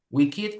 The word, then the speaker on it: wicked: Wicked is similar to evil and naked, desnudo, yeah. So in this case, you don't follow these rules; they are exceptions, and you say wicked, naked, wicked, naked, exceptions, yeah.